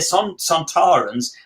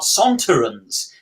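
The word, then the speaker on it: Sontarans: fashion australian um and that's why they're santarans and not sontorans because kevin lindsay actually came up with the pronunciation um we love these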